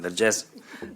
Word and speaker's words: Vergès: Laura Vergès, I said it right this time, Vergès Flanaguma.